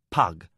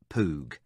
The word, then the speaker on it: Pug: Master Lori and my friend is Pug, not Poo.